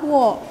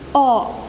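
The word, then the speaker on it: を: terakhir yaitu partikel-partikel walk ini dibaca hiragana adalah Wow tapi kalau partikel dia dibacanya Oh kenapa begitu karena memang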